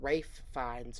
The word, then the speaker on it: Ralph Fiennes: is Ralph finds but I could have sworn that it was pronounced like Rafe fines or something that it wasn't actually pronounced like Ralph so I don't